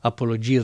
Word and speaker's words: apologia: voluntarily deserves that applause I love the way I announce the track pronouncing it the way I think is right and then I hear her singing it and I go oh that's how you're supposed to say it so it's a apologia thing we're good though